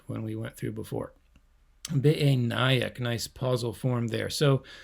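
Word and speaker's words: בְּעֵינַיִךְ: I think I mispronounced that when we went through before. Be'enayik, nice pausal form there.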